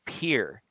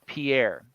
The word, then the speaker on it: Pierre: It's Pierre, not Pierre, which I had grown up. I didn't know any better. I had never been to South Dakota. I always just said Pierre.